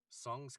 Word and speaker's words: Tseng: it's very interesting because song's character his character name is spelled t-s-e-n-g and then it's pronounced in the game song and then interestingly um